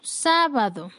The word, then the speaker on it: sábado: Siguiente ejemplo, sábado. Sábado es una palabra con 3 sílabas. La sílaba con mayor fuerza es la antepenúltima sílaba.